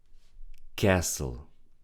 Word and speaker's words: castle: Castle. We don't read the D. Don't say castle. We say castle.